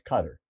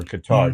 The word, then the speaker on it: Qatar: And according to Tucker, he loves Cutter or Qatar, depending how you pronounce it.